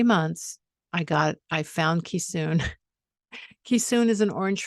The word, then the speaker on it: Keesoon: i thought well that's a cool name it is spelled this is what i have now as a memento k-e-e-s-o-o-n ki soon and there's his paw print which was hard